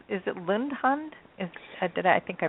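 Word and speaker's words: Lundehund: thank you well did I pronounce is it Lund hund is did I think I pronounced Lund hund it's pronounced lundun nor nor lundun she is a she's a puffing Hound she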